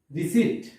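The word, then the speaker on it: receipt: রিসিট, এখানেও কিন্তু পি অক্ষরের উচ্চারণ।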